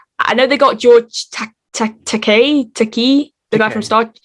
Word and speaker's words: Takei: uh pronounce it as takai and he goes that means hooker in japanese he's there he says no it's it rhymes with toupee and he goes oh